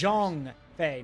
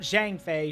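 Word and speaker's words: Zhang Fei: B's Two fiercest officers Jong Fe not Jang Fe Jeong Fe that's how you say it Jong Fe then our aim should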